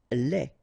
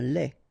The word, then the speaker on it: lait: Lait. Un lait. Okay, so the only difference is the final thing here, D, you don't pronounce it, T, you don't pronounce it, so phonetically you only have this lait.